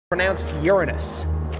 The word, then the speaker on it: Uranus: It's me, Uranus. And no, it's not pronounced Uranus. Many planets confuse the pronunciation.